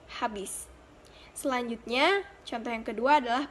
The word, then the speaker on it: habis: Pengucapan habis dalam bahasa tidak baku adalah abis, sedangkan dalam bahasa baku habis.